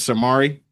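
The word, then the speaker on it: Cir'Mari: His name is Samari. And we and we spell it C I R and then apostrophe M A R I.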